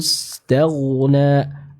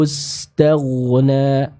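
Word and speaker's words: استغنى: yang ke-7 ar-ra'ahu istaghna, huruf ghain sempurnakan lagi aliran suaranya. Tadi sudah betul Pak Irfan ditebalkan namun masih belum terdengar aliran suaranya. Ya, jadi bisa disempurnakan. Saya contohkan ar-ra'ahu istaghna, ar-ra'ahu istaghna.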